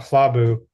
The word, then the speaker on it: Hlabu: Quick note about Hlabu. When we write it in pronunciation, this is a very Geshe Michael and sticking point, I think. We typically, if we're writing pronunciation rather than transcription, we would put the H first. Mm-hmm. Oh, and then the L, okay. because you pronounce it Hla, yeah.